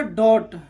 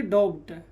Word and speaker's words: doubt: DOUBT, ये क्या होगा? डॉट, ना कि डॉप्ट। ये बी क्या है? साइलेंट।